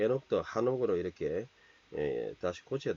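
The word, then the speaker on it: חנוך: 피스데이 믿음으로 그 에녹은 사실 제가 창세기 할 때 했지만 이 발음이 좀 잘못됐다 그랬죠. 한옥이에요. 예, 하나크 밭이다 이런 말인데 한옥.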